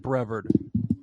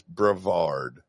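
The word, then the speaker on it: Brevard: even Florida man on Florida man got got bravard wrong they called it brever really yeah dude how can they call themselves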